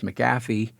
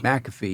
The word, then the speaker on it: McAfee: then companies came along an early one was maffy U am I pronouncing his name right mcafe McAfee yeah I was get that and McAfee uh